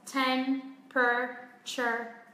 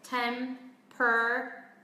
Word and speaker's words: temperature: Rồi, từ này có hai cách phát âm các bạn nhé. Theo cách thứ nhất thì nó sẽ chỉ có 3 âm tiết thôi. Temperature. Và theo cách phát âm thứ hai thì nó sẽ có 4 âm tiết.